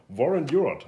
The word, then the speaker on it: Warren Huart: two month we had University and a meeting warrant Europe I hope I pronounced it right that's perfect I know warrant